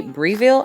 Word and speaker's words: Breville: from the UK because it is a Breville I think it's how you pronounce it toaster and kettle but